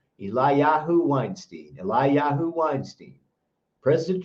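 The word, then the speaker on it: Eliyahu: trouble saying this one it's spelled e l i eli y a h u eli yahoo eli yahoo weinstein eli yahoo weinstein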